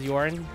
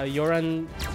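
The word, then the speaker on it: Eunie: __ ] dead white i pronounce it as yarn uh you're on if i say it fast enough it's going to sound like urine you know hi i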